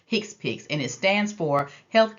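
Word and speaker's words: HCPCS: third set is pronounced hick pic the abbreviation is pronounced hick pic and it stands for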